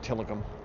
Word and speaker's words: Tillicum: And yeah, it's called Till I Come. Well, that's how it's spelled, Till I Come. But it's pronounced Tillicum.